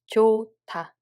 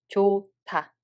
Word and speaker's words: 좋다: There is a 히읗 받침 followed by the sound consonant. So this the sound consonant becomes t, and 히읗 받침 disappears. So we read it as 좋다, 좋다.